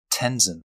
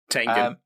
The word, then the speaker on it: Tengen: Guts from Berserk against Tenzin from Demon Slayer. I honestly forgot his name for a moment. Tengen. Tengen. Yeah, you said it wrong.